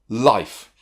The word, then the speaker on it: Life: There's also the magic E. Here's an example. Life. The symbol is long vowel, consonant, E crossed out. Now it's crossed out because you don't pronounce it. It's what makes the vowel a long vowel.